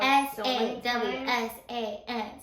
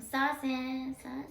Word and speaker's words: Sawsan: So, if anyone is struggling to know how to say my name, it's Sawsan, like the Post Malone song.